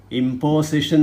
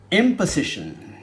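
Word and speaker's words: imposition: പക്ഷേ അതിൻ്റെ നൗൺ വരുന്നു ഇമ്പോസിഷൻ എന്നാണ് എല്ലാവരും പറയുന്നത്. തെറ്റാണ്, വലിയ തെറ്റാണത്. അവിടെ ഓയുടെ ഉച്ചാരണം ഇംപൊസിഷൻ, ഇംപൊസിഷൻ, ഇംപൊസിഷൻ.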